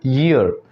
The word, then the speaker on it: year: This is नॉट ईयर, this is called ईयर।